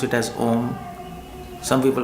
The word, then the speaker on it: Om: So some people pronounce it as Om. Some people pronounce it as Ayum, Aum, A-U-M. So technically it is pronounced as Aum.